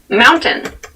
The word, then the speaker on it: mountain: Keep in mind when you pronounce this word in fast speech, it sounds like mountain. The T sound is reduced.